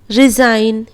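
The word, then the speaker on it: resign: डिज़ाइन, align, रिजाइन, इस तरह पढ़ेंगे।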